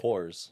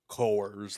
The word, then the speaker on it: Coors: Corz.